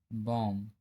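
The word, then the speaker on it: bomb: एम के बाद यदि बी आता है तो बी साइलेंट होता है। जैसे कॉम, बॉम, थम, डम।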